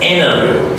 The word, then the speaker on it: interview: No, it's an interview. T is silent here. Interview. So the V is also very important here because V is a voice consonant sound.